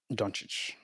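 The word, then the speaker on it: Dončić: Luca how do you say his last name donic Luca donic okay so what's your opinion and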